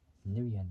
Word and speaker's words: Nguyen: So for the name of Lance, his last name I can't really pronounce it that well. So it's Lance Nguyen, there we go.